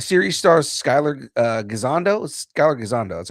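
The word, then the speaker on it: Skyler Gisondo: Skyler Gazando, that's how you pronounce it, right?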